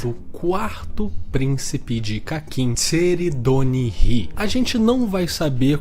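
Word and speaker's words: Tserriednich: nome desse cara, mas considerando que é um nome que ele foi feito para ter uma pronúncia alemã, seria algo como Tseredinish, mas todo mundo chama de Tseredonihi e é mais fácil, então vou chamar ele assim, tá bom?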